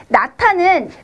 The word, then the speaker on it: 낳다: 그런데 나타는 받침에 있는 히읗과 뒤에 있는 디귿이 만나서, 그래서 히읗과 디귿이 만나서 티읕이 되는 거죠. 그래서 발음에 나타 이렇게 되는 거예요. 이해되십니까? 그래서 히읗 받침이 있을 때는 거센 소리로 바꿔서 소리를 낸다. 뒤에 것과 합해서.